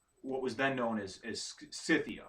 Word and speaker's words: Scythia: was then known as scythia or scythia okay i think it's called pronounced cythia s-c-y-t-h-i-a i think and i should actually